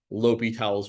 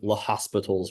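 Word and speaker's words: L'Hôpital: Next quarter, we might talk about this thing called L'Hopital's rule, or as you might incorrectly pronounce it, L'Hospital's rule.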